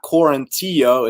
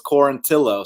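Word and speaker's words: Quarantillo: his last name correctly it's not quarantino it's corintillo so congratulations you said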